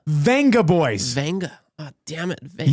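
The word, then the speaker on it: Vengaboys: Did you say Avenger Boys? No, Venja. Venga Boys.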